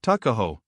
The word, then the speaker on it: Tuckahoe: Eastern Shore men usually pronounce the word took as tuck, Tuckahoe, therefore, is, in Maryland parlance, Tuckahoe.